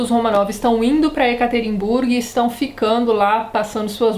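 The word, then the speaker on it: Yekaterinburg: cidade então vamos lá a cidade cuja pronúncia correta é ekaterinburg tem nome que sua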